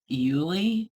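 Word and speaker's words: Iuile: the um the name of the company is euli and I might have shown this to you guys before but that's how it's spelled i u i l e and she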